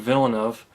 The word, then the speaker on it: Villeneuve: would not be returning to direct but Denis Villeneuve as I pronounced it was the director of films like